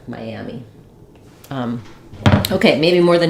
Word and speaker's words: Miami: vowel to vow linking it'll sound like we'll miss the middle Sy syllable it'll sound more like M mamy like it gets too reduced we don't hear all three syllables so in order to be able to hear Miami as you connect between vowels make sure that you have that Y sound there Miami um okay maybe